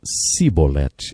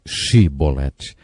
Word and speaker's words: Shibolete: Eles não conseguiam pronunciar o som CH, e por isso diziam Sibolete, ao invés de Shibolete.